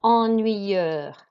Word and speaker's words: ennuyeux: And here we've got ennuyeux. You do not pronounce the X. You pronounce ennui, and then that is an sound. EUX is an sound.